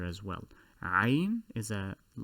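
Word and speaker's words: عين: tend to translate it that is ain that is incorrect it is also it also emanates from the pharynx which we will cover in the anatomical diagram in a bit the letter is called ein which is also the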